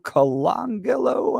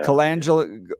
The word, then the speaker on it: Colangelo: A guy named Matthew Colangelo, I think is how you pronounce his last name. Colangelo, I think, yeah. Colangelo, and the right pointing out he's got a